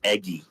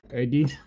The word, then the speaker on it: Eggy: But you So it says you're It says you're supposed to say his name is Eggy. Eggy.